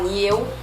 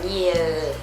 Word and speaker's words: Niel: Por exemplo, niel, você não vai falar ni eu porque não é português, que o L vira meio que um u. Tem que pronunciar o L, tem que falar niel, dongun, tem que falar un, né?